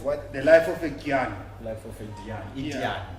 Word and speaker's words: Dyan: the life of a Dyan. Life of a Dyan. Yeah. Dyan. Dyan. Dyan. That's in Eastern Cape Town. No, but they say it with a J.